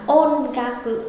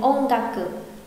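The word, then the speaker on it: おんがく: Đọc là không đọc rõ hẳn là ôn ga cự mà sẽ đọc lái thành ôn ga cự, ôn ga cự.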